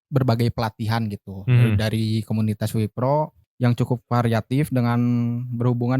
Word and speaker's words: W-PRO: wpro atau w Pro dibacanya apa nih wipro wipro wipro Oh wipro wepro tapi ditulisnya ya oke dibacanya wipro apa sih wepro atau